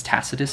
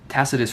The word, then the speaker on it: Tacitus: And second to that is this new dude named I think it's Tacitus is how you say it.